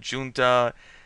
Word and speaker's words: junta: Junta, junta. I mean, that's a Spanish word, but it's kind of been anglicized enough that I think either pronunciation's acceptable at this point, but I'm going to